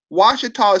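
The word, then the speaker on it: Ouachita: Washita is spelled Ouchita.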